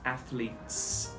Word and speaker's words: athletes: athletes so there are two things that people get wrong about this the first one is separating the s and the t sound so people will say athletes or athletes something like that and the second thing is um saying th l together so if you're not used to a th sound you're going to screw this one up every time a lot of people